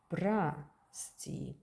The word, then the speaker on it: прости: But in прости, as I told you, the accent is on E, and so vowel O is pronounced as A. Прости.